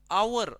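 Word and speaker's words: hour: टूक मी almost R हे आर दिसते हे आपण आवर असं प्रोनन्सिएशन करतो याच पण याच्यात एच जो आहे तो सायलेंट आहे एच सायलेंट आहे म्हणजे हे वरच राहत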